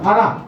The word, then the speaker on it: ফারহা: আচ্ছা ফারা, ফারা, ফ আকার র আকার হ হসন্ত ফারা, ঠিক আছে? মানে আমরা ওর নাম উচ্চারণ করতে গিয়ে ফারা, ঠিক আছে?